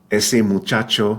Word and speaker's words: muchacho: is simple the the letter combination CH in Spanish is pronounced like the CH in the English words cheese or China right muchacho which has two CH